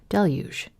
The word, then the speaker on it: Deluge: delu deluge Deluge Deluge Deluge it's a soft G isn't it Deluge oh my God